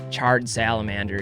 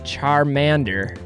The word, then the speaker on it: Charmander: game how to play my dad would never tire of inventing new mispronunciations of their names charred salamander he would say or charred lizard it's Charmander I'd correct him before explaining the significance